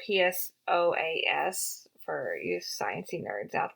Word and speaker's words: psoas: sometimes it's referred to as a psoas muscle it's spelled psoas for you sciency nerds out there if my